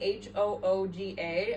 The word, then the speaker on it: hygge: No, I heard it's Hygge in my head. Well, people say it different everywhere. On the cover of the little book of Hygge, it does say Hooga as pronunciation, so I'm going with that, but I don't know.